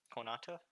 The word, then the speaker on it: Konata: and Konata is how you say it in Japanese, if I remember correctly.